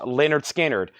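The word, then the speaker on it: Lynyrd Skynyrd: a Mofi 2lp and we have Leonard skinnard pronounced Leonard skinnard a 2lp analog production that would be an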